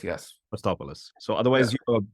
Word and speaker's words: Costopoulos: Dr Costopoulos: In English it's Costopoulos yes. Abhijit: Costopoulos.